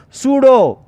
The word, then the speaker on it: pseudo: P is a silent letter in this word, pseudo.